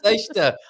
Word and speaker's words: sexta: And Summers, well, it is sex toy feira. It's not sex toy feira. It's sexta. Honestly, my goodness.